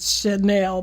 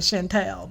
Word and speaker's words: Chanel: Well, they probably pronounce it Chanel, but I was pronouncing it Chantel.